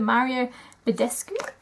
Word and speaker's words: Mario Badescu: I'm just gonna spray my face with the Mario Badescu that's how you say it just to kind